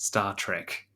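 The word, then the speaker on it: STARTRK: the start RK studies are actually pronounced Star Trek that's why I said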